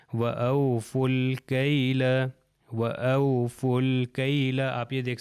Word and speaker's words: وَأَوْفُوا الْكَيْلَ: کے ساتھ مل گیا، اگر اکیلا ہوتا تو او فو ہوتا، مگر اگلے سے جب مل جائے گا تو یہ واو، یہ الف اور یہ الف نہیں پروناؤنس ہوں گے، لکھے جائیں گے، یہ لام سے مل جائے گا بالکل دوسری اگزامپلس کی طرح، تو یہ ہو جائے گا وَأَوْفُوا الْكَيْلَ، وَأَوْفُوا الْكَيْلَ۔ آپ یہ